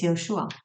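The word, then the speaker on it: Yeshua: They couldn't pronounce the language Hebrew. So it was from Yoshua, it became Jesus, but it's Yoshua.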